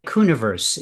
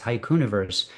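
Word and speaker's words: haikuniverse: Hiuniverse is how that's pronounced. I know it's a word that I made up and so people uh re rebel against it by by dividing it up into two words, but it's hauniverse. Um uh which I only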